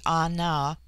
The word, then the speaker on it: Ana: bulwar lytton chapter 10 the word ana pronounced broadly anna corresponds with our plural